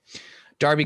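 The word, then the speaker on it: Derby: our janet and heather darby county d-e-r-b-y what d-e-r-b-y d-e my bad d-e-r-b-y oh god d for david for some reason they pronounce it darby but they're wrong fear is good uh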